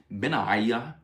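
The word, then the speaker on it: Benaiah: That's Ben and then three vowels and a silent H.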